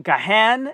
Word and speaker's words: Gahan: Desmond Gahan is the pronunciation that I'm hearing on the show.